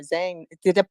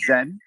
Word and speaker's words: Zein: and it's like oh you know Zane am I pronouncing your name right Zhang is it right it's zen zen yeah I love that name